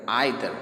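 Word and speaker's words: either: He made no objection to द आइदर. आप इसको ईदर भी पढ़ सकते हैं और आइदर भी पढ़ सकते हैं. दोनों pronunciation is correct, no problem.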